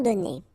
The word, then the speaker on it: donnés: Okay, so the good news is that you don't pronounce it, so donner, okay, so whether it would be without this final es or with es, you will pronounce it the same way.